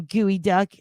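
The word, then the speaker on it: geoduck: gas stations everywhere it's everywhere here gosh darn gooey duck I know it's geod duck but I've heard or it's spelled geod duck but it's pronounced gooey duck right nodes nodes can I lay my head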